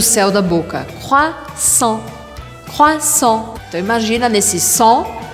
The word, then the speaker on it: croissant: Você provavelmente adora o croissant francês, mas você sabia que não se fala croissant, mas croissant. Croissant.